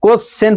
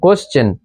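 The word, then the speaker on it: question: সন যেমন এডুকেশন তারপরে এস টি আই ও এন এটাও সন কিন্তু সনের আগে এস আছে তো এটাকে পড়বো আমরা চন উচ্চারণ পড়বো যেমন কোশ্চেন পড়ি কিন্তু কোশ্চেন পড়া উচিত আমাদের যেমন কোশ্চেন সি এই সি কে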